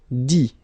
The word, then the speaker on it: dit: Dit. Okay, phonetically, same thing here, you don't pronounce the final T.